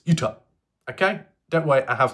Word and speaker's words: Utah: other states and think it's not utar even though I prefer to say it that way it's Utah okay don't worry I